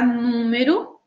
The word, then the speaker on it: número: E a palavra número também tem três sílabas. Estão conseguindo identificar? Número. E a sílaba tônica também é a antepenúltima.